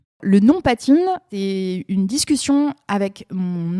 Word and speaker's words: Patine: dis mais c'est super on le comprend ça s'écrit c'est on le lit comme comme ça s'écrit c'est important pour une marque digitale au pire on dit pas time si on américain ça va c'est voilà